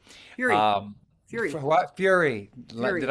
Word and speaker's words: Fure: with people like Fure. Fury. Fury. What? Fury. Fury. Did I say that? Huh? You said it wrong. Fury. Fury.